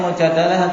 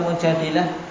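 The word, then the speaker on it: المجادلة: Membacanya Mujadalah atau Mujadilah? Indah Hudzaifah. Bisa dua-duanya. Nah, kalau Mujadalah yang dimaksud kejadiannya. Kalau Mujadilah yang dimaksud adalah orangnya, yaitu wanita yang mengangkat perkara tersebut kepada Rasul sallallahu alaihi wasallam.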